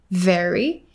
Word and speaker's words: very: said like uh like very it sounded very like the fruits yes so he exchanged the v sound for the b sound yes right and also